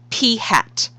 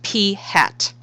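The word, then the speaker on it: p̂: is this variable right here and this is pronounced P hat no I'm not kidding it is pronounced P hat so P hat the sample proportion of successes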